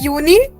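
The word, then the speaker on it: Juni: like the sibling of जून सो जून वाज़ यूननी now July will be यूली okay so यूनी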